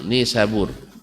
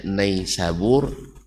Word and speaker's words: Nisabur: satu para Ustadz membacanya naisabur ia wallahualam Saya menerima langsung dari orang yang sana Barca bukan naisabur bacanya tapi ini Sabur ini sebur lesu orang sana nanti apakah ada yang